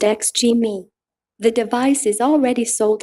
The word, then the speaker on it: Xgimi: The Z4 Aurora is produced by Chinese manufacturer Xgimi, pronounced ex-gee-mee.